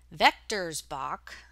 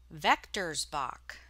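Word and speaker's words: Villeroy & Boch: how to pronounce it vectors box Germany snowmen mugs a hundred and fifteen dollars so yes this is your word of the day vectors box that's how you pronounce it well according to this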